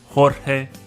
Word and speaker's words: Jorge: The letter J makes the H sound. Jamón, Jorge, jugo.